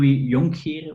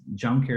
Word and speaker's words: Jonckheere: me for this podcast so it's yon here but it's it's I mean it's impossible to pronounce in English so it's junker is fine um but but yeah